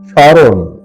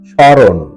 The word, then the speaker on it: স্মরণ: স্মরণ সঠিক এবং শুদ্ধ উচ্চারণ হলো স্মরণ র এর সাথে ওকারান্ত উচ্চারণ স্মরণ এবারে 45 মূল শব্দ